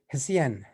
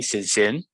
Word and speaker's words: Susan: aboard uh then uh hope i'm pronouncing the names uh correctly hasean or is it is it correct hello hello it's me yeah my name is actually susan okay i'm from singapore